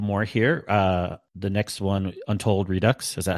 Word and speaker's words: Untold Redux: The next one, Untold Redux. Is that how you guys pronounce it?